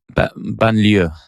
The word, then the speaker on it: banlieue: Sean, pronounce it for me. Was it Banlieue? Banlieue.